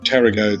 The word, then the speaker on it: Tarago: At the end of the last video, I thought we were a bit closer to Tarago than we actually are.